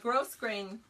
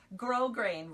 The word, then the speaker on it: grosgrain: This is gross grain. Or not gross grain. That's what I called it for years because I didn't know how to say it, but it's actually grosgrain ribbon.